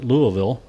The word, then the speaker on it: Louisville: were in in L Louisville am I saying that right Louisville yeah slur it the more you slur it The Closer You Are the pronunciation yeah uh but i' like